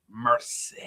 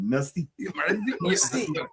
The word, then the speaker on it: merci: And then he had to try and say it like he was from mercy. I said merci.